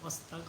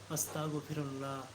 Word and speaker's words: আস্তাগফিরুল্লাহ: যদি সারাদিনে ইস্তেগফার পড়েন অনেকে আছে আস্তাগফিরুল্লাহ আস্তাগফিরুল্লাহ বলে আস্তাক এখানে কুয়া উচ্চারণ করে আসলে এটা আস্তাক হবে না এটা হবে আস্তাগফিরুল্লাহ আস্তাগফিরুল্লাহ এটা যদি আপনি